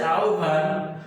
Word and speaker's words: আহ্বান: শব্দের শুরুতে আছে আ, যদি শব্দের শুরুতে এইভাবে আ থাকে অথবা অ থাকে, আর এর সাথে যদি হয় বফলা হয়, তাহলে এটার উচ্চারণ হবে ওভ। উচ্চারণ কি হবে? ওভ। তাহলে এই যে আহ্বান, তাহলে শব্দের শুরুতে আ,